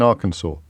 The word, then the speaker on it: Arkansas: S silent in AR the second s is silent in Arkansas despite the fact that it's spelled identically to Kansas from the K onwards John Z Cen John